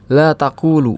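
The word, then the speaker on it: لا تقولُ: Tapi kalau artinya kamu tidak berkata dibacanya apa jadinya? La taquulu. Iya. La taquulu. Huruf lamnya tetap mar marfu marfu. Kalau dibaca la taquulu itu artinya kamu tidak berkata.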